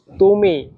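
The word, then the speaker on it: 他: তা তা তা এটা বলার সময় একটু টেনে একটু লম্বাভাবে বললে তাহলে উচ্চারণ সুন্দর হবে।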